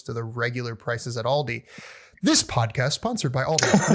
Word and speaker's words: Aldi: Like so many people say Aldi's. Like there's no Aldi's. It's Aldi. There's no S.